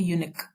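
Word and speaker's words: eunuch: इसका प्रोनाउंसिएशन है यूनिक।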